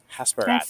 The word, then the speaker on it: Hasperat: Hasperat. Is that how you pronounce it?